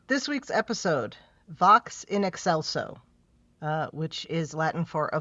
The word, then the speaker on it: Excelso: Yeah, but no, it's Vox. Yeah, Vox and Excelso. That's correct. Okay. Yeah. I mean, that's people... how it is. I mean, because that's how it's listed on Paramount Plus and on Memory Alpha. But like, I've seen a bunch of people calling it Excelcio.